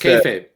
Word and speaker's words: kayfabe: So that's I don't even know how you say it, kayfabe? Yes, kayfabe.